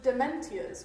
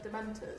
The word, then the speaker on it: Dementors: g o n a i pronounce them as dementias when i first read the books to myself instead of dementors they were dementias okay